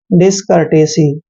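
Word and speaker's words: discourtesy: यहाँ पर ओ और यू साइलेंट रहेंगे क्योंकि आर से पहले जब भी ओ यू आर आते हैं वहां पर ओ यू साइलेंट हो जाते हैं।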